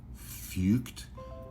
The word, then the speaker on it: Feucht: His last name is spelled Feucht, which, from what I can understand, is pronounced Fucht. I would pronounce it another way.